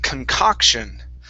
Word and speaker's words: concoction: this word is pronounced concoction so instead of concoction okay our stress is on that second o concoction concoction there you